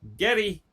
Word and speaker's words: Geddy: So his friends started calling him Geddy because that was the way she pronounced the R's, was with that D kind of a sound, being where she was from and all that.